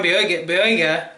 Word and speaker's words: Boyega: Anyways, when I got into the beta, there was a video by John Boyega.